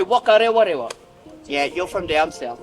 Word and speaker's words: Whakarewarewa: An example of that, the WH we pronounce as F. Down south, they'll say W. So instead of Whakarewarewa, they'll say Whakarewarewa.